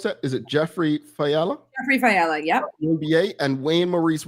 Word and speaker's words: Jeffrey Fiala: We've got, how do you pronounce that? Is it Jeffrey Fiala? Jeffrey Fiala, yep.